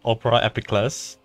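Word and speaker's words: Opera Epiclese: opera house all right I'm taking note that one's pronounced Opera epic class city court cases be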